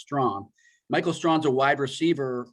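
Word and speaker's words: Strachan: his name is michael strong it's it's spelled s-t-r-a-c-h-a-n but it's pronounced strong michael strong's a wide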